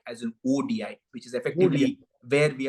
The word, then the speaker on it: ODI: I like how Iman is pronouncing it as WOEDI, as an ODI, which is effectively where we are going to end up after the 3-match series.